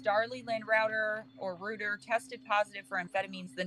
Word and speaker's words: Routier: So prosecutors charged that she was, it's pronounced Routier. Prosecutors charged that Routier was taking diet pills and was upset with her children because she couldn't lose weight after having their 3rd child.